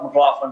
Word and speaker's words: McLaughlin: little different and my last name is mclaughlin m-c-l-a-u-g-h-l-i-n and it's easy to remember because it's got